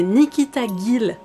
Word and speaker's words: Nikita Gill: oublié de vous dire j'ai fait des recherches pour nikita gillot will que je vais pas dans ça se prononce et en fait c'est nicky taguil c'est fou la vie